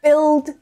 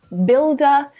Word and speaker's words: build: In the word build, built, building, builder, in all of them, the U is silent. It's the I vowel sound, the short I.